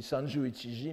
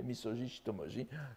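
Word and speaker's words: 三十一文字: du waka, Uta no misoji shitomoji. Il s'est lu entièrement en lecture kun. Il ne dit pas ici sanju ichiji, mais misoji shitomoji, expression utilisée aussi par Jien.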